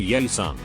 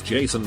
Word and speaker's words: Yeeson: The mom got pissed when I was saying yay son. She yells at me it's Jason like English.